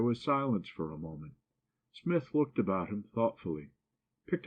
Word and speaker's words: Psmith: what is your name Smith the p is silent well Mr Smith I